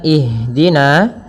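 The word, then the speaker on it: اهدنا: Pada bacaan ihdina di sini ada huruf ha yang dia sukun. Ha ada salah satu sifat yang dia harus kita lafalkan ketika membacanya itu sikap eh maaf sifat hames. Hames artinya mengalir nafas kita. Mengalirnya nafas kita. Maka jangan sampai huruf ha ini memantul. Misalkan ihdinasirat ya. Akan tetapi alirkan nafasnya. Ihdina.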